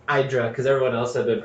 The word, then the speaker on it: Hydra: talked to a lot of Greeks and it's pronounced I drunk cuz everyone else had been pronouncing it Hydra Oh God and this guy was just the